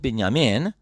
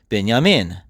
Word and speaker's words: Binyamin: He is called Binyamin. His father called him Binyamin. Does that sound the same? Because it is.